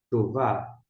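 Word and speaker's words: טובה: vt a longo e aqui no final o re que não é pronunciado. E como é que a gente vai pronunciar? Tová.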